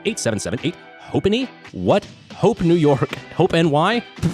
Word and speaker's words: Hope NY: Hope NY. Brandon just said hopony, not hope New York.